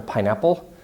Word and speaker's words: pineapple: up the strange term pineapple anyway so pineapples know that's the second level stress but here you say we have pie and apples equal stress on both words or you get to